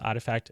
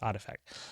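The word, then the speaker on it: RTFKT: But I've since learned it's pronounced Artifact. Now you can sound clever and smart to your fashionista friends. You can tell them that's pronounced Artifact.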